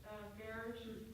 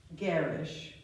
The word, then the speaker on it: garish: The correct pronunciation for garish? Garish. Garish.